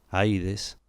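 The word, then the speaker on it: Ἀΐδης: Por último, la entrada del Hades se llamaba Puerta del Sol, y la misma palabra Hades, tal como se pronunciaba en la época homérica, Aides, evocaba claramente la imagen de lo invisible, de lo que hace invisible.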